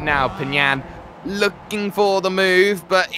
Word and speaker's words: Pagnan: So, actually, I did actually get confirmation from an old teammate, actually, of Marcello's on how to pronounce his name. All right. Marcello Pagnan. Pagnan. Pagnan.